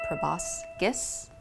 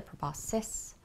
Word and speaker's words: proboscis: I always said proboscis when I worked in a Drosophila lab, and it does seem that that's a valid pronunciation, but the proboscis is more accepted.